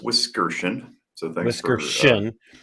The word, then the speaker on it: Wiskerchen: um it is pronounced whiskers so thank you description not no uh the emphasis is on the middle syllable if you will and uh i am